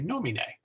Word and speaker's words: nomine: So we say nomine. As I said, dominus or dominus, either way you pronounce it pretty much the same.